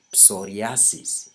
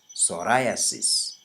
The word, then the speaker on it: psoriasis: talk about is psoriasis please note how I pronounce this word it's not psoriasis its psoriasis so let's talk about